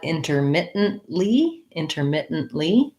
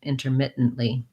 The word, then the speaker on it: intermittently: When I add intermittently, I again just can add the same pronunciation, but I'm adding the li. Or I might say intermittently. I probably wouldn't, though, in natural speech. Honestly, I use that stop T, syllabic N, stop T combination.